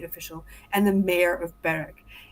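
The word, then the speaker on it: Berwick: Yeah, it's pronounced Beric. Beric because Scott because English.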